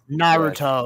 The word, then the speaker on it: Naruto: Naruto. Naruto.